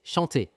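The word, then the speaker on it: chanter: এখানে কিন্তু শেষের আর গুলো কিন্তু উচ্চারণ করা হবে না। মজে, পালে, দন্সে সন্তে। মৌসে, পারলে, দ্বন্সে, সন্তে নট, দন্সের, শান্তের।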